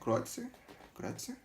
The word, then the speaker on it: Kreutzer: Agradecer ao Filipinho que me ensinou a pronúncia correta, né? Kreutzer.